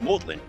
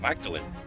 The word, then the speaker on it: Magdalen: This place is pronounced Magdalen, not Magdalen. Who knew?